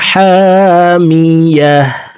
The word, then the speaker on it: حامية: দুই পেশতুন নারুন হামিয়াতুন আয়াতের শেষে গুলতা আছে তাই গুলতাকে হার উচ্চারণ করে হাকে সাকিন করতে হবে দেখুন শব্দটি এভাবে পড়ব নারুন হামিয়াহ নারুন হামিয়াহ প্রিয় দর্শক আমি এখন